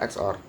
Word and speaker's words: XOR: Ini bacanya XOR.